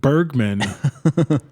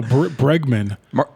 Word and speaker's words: Bregman: Martin Bergman. No, Bregman.